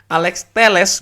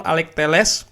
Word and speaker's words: Alex Telles: Ternyata pronunciation-nya itu Alex Telles. Gue cek dengan dari source gue yang orang Portugal. Ternyata betul Alex Telles.